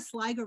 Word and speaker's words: Sliger: Yeah, Sarah Sliger rhymes with tiger.